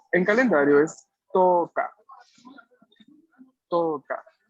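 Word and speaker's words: 十日: No la vamos a tener que pronunciar, de lo contrario no estamos haciendo la buena pronunciación del nombre. Yu. Y en calendario es Toka.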